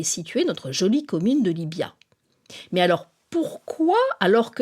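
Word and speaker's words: Llívia: Libya que l'on écrit avec un V mais qu'on prononce avec le son B est perché à 1224 m d'altitude au cœur des Pyrénées orientales sur 13 km².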